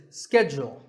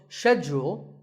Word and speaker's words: schedule: In American English, this is schedule. The first syllable is ske and the second is jewel, schedule. In British English, it can be both schedule or schedule.